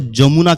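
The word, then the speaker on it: যমুনা: में जाएगा तो इसको जमुना के नाम से बुलाते हैं। नॉट यमुना जमुना लिखते जमुना है पर बंगाली एक्सेंट में ओ ज्यादा आता है तो इसको जमुना कहते हैं।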